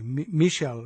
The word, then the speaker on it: Michel: Michael Chossudovsky, or as they say, Michel Chossudovsky, I guess is how it's spelled, is an award-winning author,